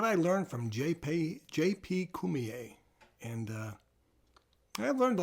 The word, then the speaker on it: Cormier: o r m i e r and it's pronounced Kier and uh he's a character he is the